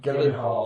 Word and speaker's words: Gyllenhaal: I can't pronounce his last name. Jake Gyllenhaal. Gyllenhaal, that's it.